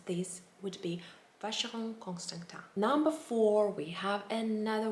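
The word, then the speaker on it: Frédérique Constant: and it is pronounced facial constant it is pronounced uh in a french way again and i find those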